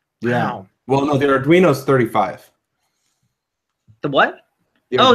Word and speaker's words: Arduino: don't see it coming to fruition with the Arduino. To the what? Oh, yeah. I keep forgetting how you pronounce that. Arduino.